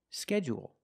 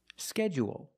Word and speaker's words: schedule: first syllable only and some people stress both syllables if you stress both syllables you say schedule schedule and you say schedule